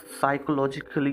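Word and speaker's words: psychology: साइकोलॉजी P silent रहता है इसमें, ठीक है।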